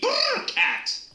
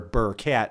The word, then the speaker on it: Burkat: Burkat, and I would spell it, Burr, and then a new word CAT.